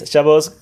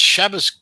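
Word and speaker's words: Shabbos: Shabos. Yeah. Okay. Yeah. It's Shabas What the is up with you Asians? You can't pronounce it. Shabas.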